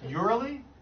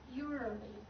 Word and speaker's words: usually: Urally? Usually. Urally. Yeah. Don't say anything. Spell that word for me. U-S-U-A. U-S? Yeah. Do you realize you're saying urally? Usually. You're not even pronouncing the S.